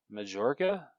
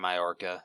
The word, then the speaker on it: Majorca: That I do not know how to pronounce. Majorca? Majorca? It's probably Majorca.